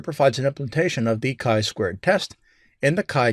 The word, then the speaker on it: chi-squared: like it's g squared but it's not it's pronounced chi-squared and i'm sure i'll mess that up throughout the course pearson's chi-squared statistical hypothesis test is an example of a